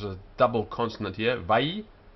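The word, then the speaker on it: וַיֹּאמֶר: Vayomer. The first syllable is closed. Vay. Second one's open. Yo. And the last one is closed. Mer.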